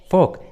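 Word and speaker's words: folk: फोक, फोक। देखिए इस English word में एल, ओ के बाद आया है, इसलिए एल का उच्चारण नहीं हुआ है, एल साइलेंट है, फोक।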